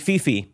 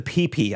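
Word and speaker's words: Phi Phi: You think Fifi. No, unfortunately, it's the PP Islands.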